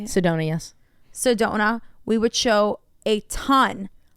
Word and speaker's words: Sedona: is that how you say it Sedona yes Sedona we would show a ton a ton of